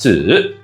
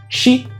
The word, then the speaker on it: 子: It's pronounced zi in Mandarin or shi in Japanese.